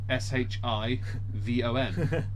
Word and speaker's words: Siobhan: How do you spell it? Well, Shivon.